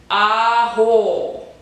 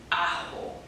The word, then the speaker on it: ajo: Ajo. Ajo. That's how you say it in Spanish, by the way.